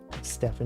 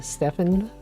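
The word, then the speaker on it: Stephen: A lot of names like that, where you would think it would be pronounced one way or spelled one way, but it's not. It's totally different.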